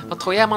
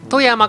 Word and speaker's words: 富山: 3 つ目は小山のイントネーションはビーズと同じですってことなんですけど富山カー富山 b 柄